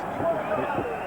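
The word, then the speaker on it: Giteau: Ça s'écrit Gito, mais ça se prononce Guiteau.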